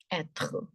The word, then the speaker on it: être: And the sound of R is h. R sound doesn't exist in French. It is always h. So this is called être. Être. And as a rule, the last letter is not pronounced. So the sound is être.